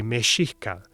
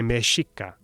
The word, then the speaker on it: Mexica: Today, most people say mexica. A few say mexica. Which one's older?